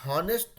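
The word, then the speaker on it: honest: बच्चों करता कुछ है तो ऑनेस्ट नहीं होता है उसमें क्या होता है ना हा को ये लोग साइलेंट कर देता है अब उसके पीछे क्या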